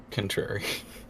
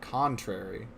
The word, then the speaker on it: contrary: what should be said how did you pronounce the first word contrary I I would almost always pronounce it contrary okay I think it's just it's it's a difference in the syllable that we're emphasizing but it makes a weirdly big difference contrary to what oh